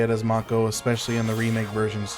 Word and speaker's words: Mako: never in my life have I heard it pronounced like Macco." But yeah, it would actually that's true. It would be Mako. Aurora says, "They do say it as Mako, especially in the remake versions, too."